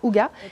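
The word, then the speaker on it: hygge: c'est le livre du houga ça c'est écrit higuain mais ça se prononce houga par mike vikings qui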